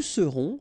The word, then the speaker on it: serons: Je serai, tu seras, final S not pronounced, il sera, elle sera, nous serons, final S not pronounced, vous serez, a Z at the end, et serez, ils seront, final T not pronounced, elles seront.